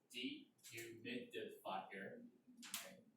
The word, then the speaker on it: dehumidifier: pronounce it correctly, so it is dehumidifier, dehumidifier, so make sure, you want to say this, fire, slowly, okay, you can say faster and faster.